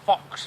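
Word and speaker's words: faux: I said it's a fox fur and that's spelled fa ux it's like a throw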